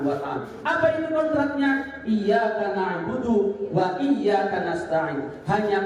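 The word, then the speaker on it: إياك: per PertolonganMu second kontrak makanya bacanya harus pakai iy kalau dalam taksin itu ada tasdidnya ada sidah sidah itu penekanan kalau dibaca tanpa sidah maknanya b bukan hanya kepada Allah kalau dibaca iyaka nabudu waaka n bukan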